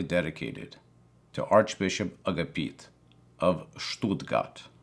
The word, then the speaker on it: Stuttgart: to archbishop agapit of stool gut I believe that is how you pronounce it I apologize to our German viewers if I mispronounce that but I'm just the guy from New Jersey so to me it was always Stuttgart but according to the internet that's not how you say it so I apologize but